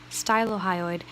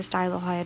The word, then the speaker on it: stylohyoid: The 4 suprahyoid muscles you need to know are digastric, stylohyoid, stylo rhymes with mylo, so mylohyoid, and Gino Hyoid.